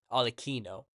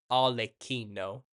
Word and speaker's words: Arlecchino: Harlequin, the name Harlequin, it not only comes from, it's pronounced Arlecchino, Arlecchino.